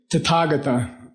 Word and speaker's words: Tathagata: Tathagata.